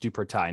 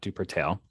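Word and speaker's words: Duportail: Middle School duper Thai House it's apparently that's pronounced duper Thai not duper tail and Pickett's post swim and racquet club which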